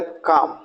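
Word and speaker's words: calm: दिखा रहा हूं कफ सी एल एम काम तो य एल को नहीं बोलना है सीच एल के चाक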